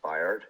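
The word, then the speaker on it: Byard: already got rid of I believe you pronounce it Bard yeah yeah Bard yeah yeah so he's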